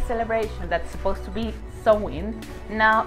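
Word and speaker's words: Samhain: we have different sewing i know that the pronunciation is not as you can see it the spelling is champagne but the pronunciation is sewing so actually they are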